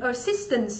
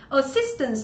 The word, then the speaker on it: assistance: Assistance đúng không? Assistance thì nó cũng là trọng âm mấy? Trọng âm 2, đúng chưa?